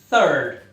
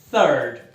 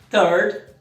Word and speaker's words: third: Cuidado, be careful, cuidado para pronunciar certinho aí a palavra terceiro, third, com o TH, third. Porque se você disser com o som de T, third, third, significa cocô.